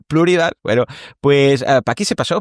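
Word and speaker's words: Pluribus: por un episodio de Pluribas o de Pluribas, es que se me hace raro llamarle así, que ahora que sé que se pronuncia Pluribal, bueno, pues Pack se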